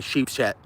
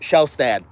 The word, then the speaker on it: Shelstad: I always say Sheepshed, but Shelstad.